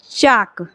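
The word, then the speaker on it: chalk: एच ए एल के चाक यह क्या लिखा गया है चक लिखा गया है ठीक है यहां भी एल पास में है तो इसलिए हम एल का उच्चारण नहीं कर रहे हैं सिर्फ हमारा किसका किसका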